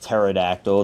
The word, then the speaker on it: pterodactyl: Is this a pterodactyl? I know it's pronounced pterodactyl. The P is silent.